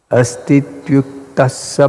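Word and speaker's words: astvity uktaḥ sa: This is combining four words. Astu iti uktaha saha and Bhagavan. Actually, this whole thing is one. So hear carefully and try to pronounce the combination. Astityuktassa Bhagavan.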